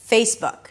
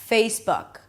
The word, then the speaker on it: Facebook: So add a little y sound at the end.